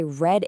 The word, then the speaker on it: read: So yesterday, I read a book, but you say it just like the color, red.